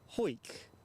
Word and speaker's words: Howick: Michelle Johnson says, Howick? Well, I'm saying. Rob says, pronounce hoik. I'll say hoik.